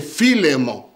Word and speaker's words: Philémon: Donc c'est Philémon. Amen. Quelqu'un l'a dit là au fond, je pense que c'est vraiment cela, la prononciation correcte de cela.